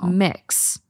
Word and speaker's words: Mx: Mariam Webster unabridged in 2016 and it's MX pronounced mix and it's to kind of be the honorific functions as a general neutral alternative to titles like mister and miss so mix this is the first time I've ever heard